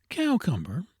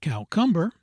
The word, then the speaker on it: cucumber: Cow Cumber, not cow cumberber and gould for lieutenant lieutenant.